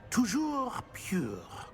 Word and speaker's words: Toujours pure: And, of course, as Master knows, in French. Yes, of course. I order you to pronounce it for me. Oh, Master knows that Scrope's French is most pitiful. Oh, very well. Toujours pure.